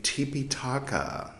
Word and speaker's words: Tipiṭaka: you might be thinking why is he pronouncing trepa in such a strange way tipa is the original name uh that's poly language Trey talk as Sanskrit there you go uh both